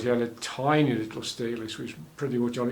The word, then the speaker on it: Stelis: was several people showing Stelis or Stelis. I tend to pronounce it Stelis with a single L, and their flowers are almost microscopic.